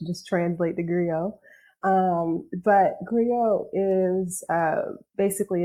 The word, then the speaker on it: griot: Yes, I call it griot. Yeah. Some people colloquially will call it a griot. So if you hear griot, don't judge. Just translate the griot. But griot is basically it's a